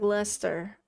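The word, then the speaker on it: Leicester: Yeah, like Lester.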